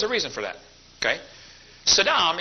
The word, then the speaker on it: Saddam: reason for that okay Saddam is the Arabic word that means Prince Sadam spelled the same way pronounced differently means hores rear end George Bush called him Sadam who saying anyway Saddam thinks he